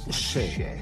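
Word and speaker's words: še: Le mot orge en sumérien se prononce chai. Donc un sumérien voit cela et dit « Ah, chai ».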